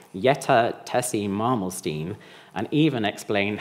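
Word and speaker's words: Tessye: it's yet or perhaps my second name that's Tessy spell t e s s y e what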